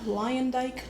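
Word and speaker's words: Luyendyk: Ari Lyondike Jr.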